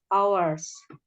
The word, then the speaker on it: hours: A period of work of a set number of hours. Ya. Period of work. Artinya apa dalam bahasa Indonesia? Suatu periode kerja yang a set number of hours. Hours. Hanya itu nggak dibaca, hanya saja.